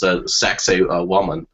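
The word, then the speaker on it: Sacsayhuamán: in Peru, and it's, I believe it's pronounced Sacsayhuaman, which of course sounds, like something else, but these are very old sites that predate what we thought was human history.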